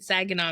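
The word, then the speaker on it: Saginaw: I was born and raised in Sagen, Michigan. So, you got it right. Okay. Sagena, Michigan.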